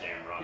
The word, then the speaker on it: Gamrot: But it's just Gamrot.